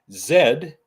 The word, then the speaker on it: zed: of Zed reason being Zed is pronounced that way here in Canada and we are Canadian